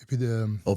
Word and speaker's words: opioids: Opioids.